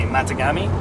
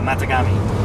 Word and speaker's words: Matagami: Matagami. Yeah. Yeah. Matagami. Matagami is the proper way to pronounce that.